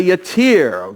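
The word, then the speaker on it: yattiyr: because the Hebrew literally says he had a yatir. We pronounce it this way, but it's Y-A-T-T-I-Y-R.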